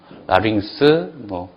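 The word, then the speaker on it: λάρυγξ: 그 다음에 4번이 감마가 이제 감마, 카파, 크시, 키 앞에서 감마가 붙어 있을 때는 받침 이응 발음이 난다 이렇게 돼 있죠. 그래서 거기 얘가 있는 것처럼 감마가 연달아 있죠. 그래서 아그겔로스가 아니라 앙겔로스 이렇게 된다는 얘기요. 그 다음에 아그퀴라가 아니라 앙퀴라, 라링스, 앙쿠사 이렇게 된다는 얘기입니다.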